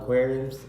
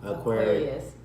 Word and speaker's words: Aquarius: Hey, y'all Aquariums? Aquarius? I know what it is. Aquariums. All right. Say it sign. Say it with me. Aquarius. Say it right.